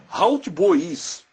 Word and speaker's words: hautbois: A pronúncia ela pode ser também hautbois, que se assemelha na origem da língua deles a oboá, né?